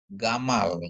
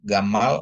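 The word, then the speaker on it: גָּמָל: Mem dikasih kamar tambah lamet bacanya adalah gamal ya. Gamal artinya unta ya.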